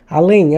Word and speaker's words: além: Onde é que está a sílaba tônica? Eu falo além, eu falo além. Eu falo além. O lem é a sílaba tônica.